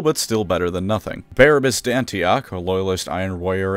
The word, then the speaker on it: Barabbas: Barabbas Dantioch, a loyalist iron warrior and man whose name I keep pronouncing as Barbarous on accident, sacrificed himself and overloaded it so that the traitors couldn't use it.